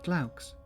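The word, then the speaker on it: Glaux: An owl made of if I You should pronounce it Glauks. From what I recall from my classical studies, that means owl.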